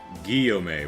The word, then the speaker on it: Guillaume: Guillaume with a hard G. Oh, it's a double L.